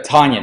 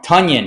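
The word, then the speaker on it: Tonyan: end italians is a tanyan i said it wrong tanyan is what he wants to be called rhymes with funyun or i play tanyan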